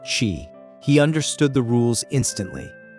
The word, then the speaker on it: Qi: The most famous early hegemon was Duke Huan of Qi, Qi is pronounced Chi.